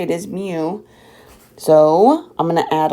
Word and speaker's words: mu: That's how you say it, is mu.